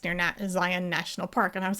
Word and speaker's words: Zion: He says that it's near Zion National Park. And I was like, thank you. It's not Zion's, it's Zion. Thank you. So anyway, Zion is not Zion either.